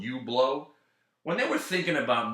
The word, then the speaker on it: Hublot: I like the name Hublot, but let's not just spell it Hublot. Let's put some sort of foreign language kind of spelling on it to make it fancy. But it'll still say Hublot.